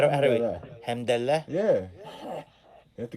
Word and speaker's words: Alhamdulillah: Alhamdulillah. Alhamdulillah. Yeah. You have to get that. No, but it's not a cha. Alhamdulillah. Yeah, it is. It's like a guttural You sound.